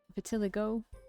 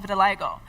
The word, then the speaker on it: vitiligo: Now that I'm so close to him, I can see the vitilig vitilig vitiligo.